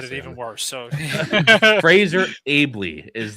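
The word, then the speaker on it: Fraser Aebly: So Fraser Ailby is how you say that name.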